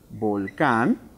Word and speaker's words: volcán: es aguda muy bien es una palabra aguda porque se cuente encuentra su sílaba tónica en la última sílaba por lo tanto en